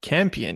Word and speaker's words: Campion: I think you spell it, Jane you pronounce Campion? it Campion.